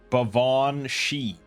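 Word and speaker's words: Baobhan Sith: And this says it's pronounced Bavon Shi.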